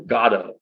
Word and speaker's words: Godot: This is Beckett waiting for Godot or Godot. I've heard Godot recently as a pronunciation.